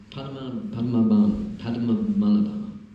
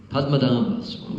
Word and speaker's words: Padmanabha: So this gentleman here, this Swami, Padmanabha. I never pronounce it properly. Huh? Padmanabha Swami. Nabha is umbilical. Padma is lotus. Padma, Nabha.